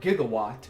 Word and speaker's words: gigawatt: movies, would know that it's not pronounced that way in the movies. It's pronounced quote-unquote incorrectly, depending on how you Google it, as not gigawatt, but as gigawatt, with a J sounding.